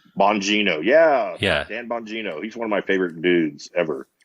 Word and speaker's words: Bongino: Dan Bongino. Bongino, yeah.